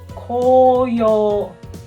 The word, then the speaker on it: 紅葉: as Autumn Red Leaves we read this kind words as Koyo Oyo means red but